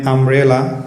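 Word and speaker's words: umbrella: এভাবে আমরা এন আমব্রেলা। এখানে ইউ এর উচ্চারণ আ এর মত হওয়ার কারণে আমরা এন বসিয়েছি বা এন এর ব্যবহার করেছি।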